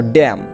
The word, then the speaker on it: damn: আমরা জানি এম এর পর এন থাকলে এন উচ্চারণ হবে না, গুরু গম্ভীর অর্থ। তারপর দেখো ড্যাম, DAMN, ড্যাম অর্থ অভিশাপ দেওয়া, যে ড্যাম, দেখো এই যে শেষে এনের উচ্চারণটা হয়নি, মনে রাখবা তোমরা।